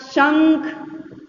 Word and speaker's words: शंख: देखिए, आप जब इसका उच्चारण करते हैं तो नाक से बोलते हैं अनुस्वार, इसमें थोड़े नाक से आपकी आवाज आती है।